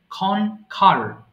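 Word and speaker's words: conquer: করে কন কিউয়ার বলে ফেলি এটা কিন্তু হবে খনখার খনখার আবার বলছি খনখার জয় লাভ করা কনকার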